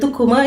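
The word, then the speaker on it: tucumã: And the tukuma is not it's between you know it's like a citric thing.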